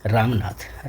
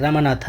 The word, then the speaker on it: रामनाथ: तो जो हीरो है आप प्रोटोगोनिस्ट कह सकते हैं इस लेसन का रामनाथ। रामनाथा in English you can pronounce but in Hindi you कैन से रामनाथ। The main character and सन ऑफ अ वेल्थदी land Lord.